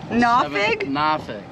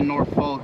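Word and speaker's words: Norfolk: born and raised I'm born and raised in nafig Virginia nafig n a w fuk is how it's pronounced it's spelled like nor folk but like out of town I supposed to say nor folk but it's pronounced na okay guys we are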